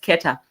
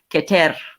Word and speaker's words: Keta: Here we call, I'll pronounce that as Keta. But in there's a tribe, the Kalenjin tribe, they actually have the same name and they spell it the same way, but they say it Keter.